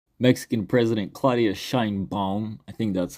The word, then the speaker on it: Sheinbaum: Mexican president Claudia Shin bong I think that's how her name is pronounced sounds kind of German to be honest agreed to send 10,000